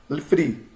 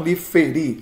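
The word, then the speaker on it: לפרי: Lifri, lifri, lifri. Não lifee, não lifee, feerei. Né? Não liferi, lifri.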